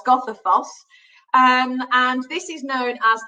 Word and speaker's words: Goðafoss: So now on to, it's pronounced Goðafoss, I've been told, not Godafoss, Goðafoss.